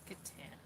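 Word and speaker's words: C'tan: How would you pronounce that? C''TAN? Catan.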